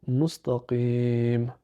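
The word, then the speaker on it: مستقيم: enfin le MIM ça nous donne le mot mustaqim ça donne je répète alors notre dernier verset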